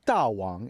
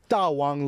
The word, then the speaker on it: DAWANG: But um why Dawang? And I'm pronouncing it the Chinese way and and I'm pronouncing in a very theatrical way because Tawang literally means great king.